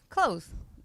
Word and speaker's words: clothes: feel so I say clothes I don't pronounce the th right say closeth whatever